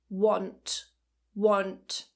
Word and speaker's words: want: Now a common mispronunciation is to pronounce want like wAnt because there is an A in the spelling, but actually it's more of an O sound. Want want.